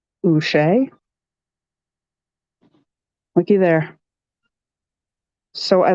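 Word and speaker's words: Uche: just basic jalen silver josh ushay wait is how you say his name he's a pat that looks like a pat oochee looky there so i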